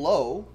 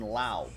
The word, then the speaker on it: Lowe: the bullpen there's nathaniel lowe who pronounces it low unlike his teammate brandon lau that's weird sherry with